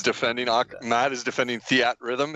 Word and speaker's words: Theatrhythm: och Matt is defending Theatrhythm is how you say it the at rhythm either with the rhythm